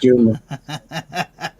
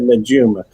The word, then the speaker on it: Najuma: You don't even say her name right. How can you be a better friend when you can't even pronounce her name? Before you did, I said Najuma, and that's It's her not name.